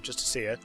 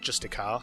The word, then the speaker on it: Justiciar: See, I'm saying it correctly this time, Justiciar, not Justicar.